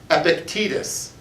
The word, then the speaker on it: Epictetus: read and here's how you say his name epictetus there once was a vice presidential candidate named